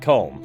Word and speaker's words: Colm: Pronounced Colm, however, he pronounces it Colm, so yeah.